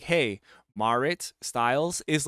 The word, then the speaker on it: Marit: an eye on it uh moving on uh Merit Styles I I realize thanks to this article that it's pronounced marit marit marit Styles and I've been saying Merit so